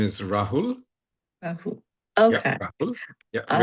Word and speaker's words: Rahul: Yes, my name is Rahul.